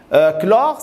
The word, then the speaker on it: chlore: p sofres chlore celle chlore ça se prononce clore ses ailes c'est pas